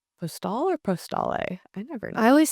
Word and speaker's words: Postale: Cafe Postal or Postale? I never know. I always say postal Okay, because we're gonna say if it's French, then you mm, always pronounce the consonant if it's followed by a vowel.